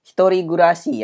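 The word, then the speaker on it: 一人暮らし: pertama ada kata hitorigurasi hitorigurasi ya Biasanya tinggal Apa artinya tuh tinggal sendirian tapi ingat karena Hitori gurasi pakai kurasu ya bacanya jadi gu ya by the eh gurasi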